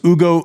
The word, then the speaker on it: Hugo: anyways uh Hugo Humbert otherwise known as Ugo um because we don't pronounce H's uh we should pronounce